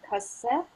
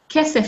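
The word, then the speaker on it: כסף: Kesef or kasef? Kesef, fantastic, kesef.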